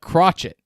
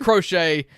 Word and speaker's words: Crochet: Garrett Crochet, starting pitcher for the Boston Red Sox, got the win last night against the Yankees. A from LSU. That's why it's crochet like knitting.